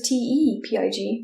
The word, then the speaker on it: Tepig: How do you say that word? Tepid. Tepid is Tepid. Yeah. So tepid. So Tepig. Because it's a tepid pig.